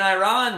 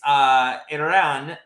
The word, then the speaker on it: Iran: Okay, so essentially an Iranian reporter went at Adams and the coach and said basically, number one, it's Iran, not Iran. So if you could pronounce our country correctly, we'd appreciate it.